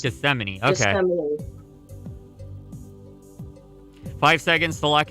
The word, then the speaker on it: Gethsemane: garden of uh gethsemane and that's how it's pronounced gethsemane okay five seconds to lock in your answers